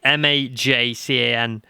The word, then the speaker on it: Majcan: can't remember his name, Loris Makan, I believe his name is. Quickly, I'm terrible at remembering these things. Yeah, Loris, I can't pronounce his surname because he's from Croatia. It's Majcan. He's making his debut at